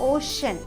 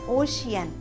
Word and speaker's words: ocean: Friends, इसका pronunciation होता है ओशन, नॉट ओशियन।